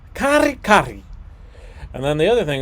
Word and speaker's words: kare-kare: I was told it was kare-kare. You can roll your R's. Kare-kare.